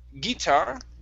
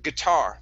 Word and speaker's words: guitar: um this word here instead of um guitar it's guitar the stress is at the end of the word guitar guitar good uh